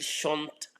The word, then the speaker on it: chante: So don't pronounce the last ENT in any conjugation. It's silent. Just pronounce the last consonant before it.